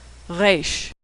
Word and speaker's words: Resh: Now most Americans pronounce it like the R in road, but Israelis pronounce it as more of a guttural sound. Resh.